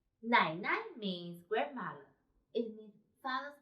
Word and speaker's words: 奶奶: 我们一起读 Nǎinai. So, this one should be light and short. Nǎinai.